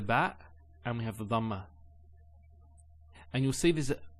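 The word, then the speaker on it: ضمة: Some people actually they don't say it with a dad. They say it with a dal. So they say dhamma. It's not dhamma. It's dhamma.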